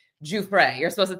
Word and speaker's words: Giuffre: But before we jumped on, Joe and I were discussing Virginia Guay. Juay, you're supposed to say it like that.